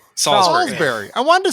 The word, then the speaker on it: Salisbury: going to say salisbury is that how you pronounce it no that's exactly right salisbury i wanted to say salisbury yeah well i